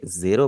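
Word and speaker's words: ゼロ: यहां पर भी आपको बता रहा हूं कि जापानीज में जब भी आपके सामने ए का लेटर आएगा हमेशा वहां पे ए की आवाज ही लगेगी। कभी भी आपने ई की आवाज नहीं लगानी। इसीलिए ये जीरो पढ़ा जाएगा। इंग्लिश की तरह जीरो नहीं पढ़ेंगे इसे।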